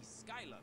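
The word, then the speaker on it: Schuyler: I guess I gotta say Skylar, because he's not the only one who says it. I strongly disagree about that being the pronunciation of that spelling, but here we are.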